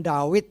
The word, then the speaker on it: Daud: Karena huruf waw itu bisa dibaca V, bisa dibaca W. Kalau dulu dibacanya W, sekarang dibacanya V ya. Jadi bisa David, bisa Daud, tapi umumnya orang Ibrani memang bacanya Daud ya.